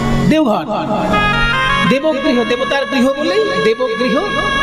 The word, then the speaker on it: দেবঘর: পাঁচ ঘন্টার মধ্যেই পৌঁছে যাবেন বৈদ্যনাথ তাই না দেবঘর দেবগৃহ দেবতার গৃহ বলেই দেবগৃহ বা বৈদ্যনাথ ধাম এই হ্যাঁ হ্যাঁ দেবঘর আর সংস্কৃতে বলা হতো দেবঘর দেবগৃহ দেবগৃহ সেখান